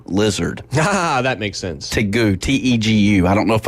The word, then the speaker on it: tegu: Tegu, T-E-G-U. I don't know if I'm pronouncing that right.